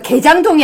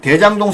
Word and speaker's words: 대장동: 개장동이 아니고 대장동. 아니, 대장동. 대장동 사건도 사실은 요번에 뭐 지금 변론 갱신하느라고 바쁜데요.